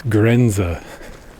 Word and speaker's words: Grenze: for Border in German it's grza just feels more like what a border is to me than a border grza g r n z e there's these really interesting